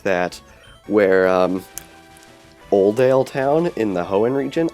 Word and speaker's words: Oldale: like that where um oldale town in the hoen region I always thought it was just oale town like no l at the beginning so I pronounced it Odell for the longest time and then we were